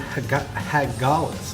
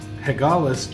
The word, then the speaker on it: Hagalaz: The tattoo that he finds on his chest is a rune from somebody named Hagalaz, I believe is the way you pronounce it.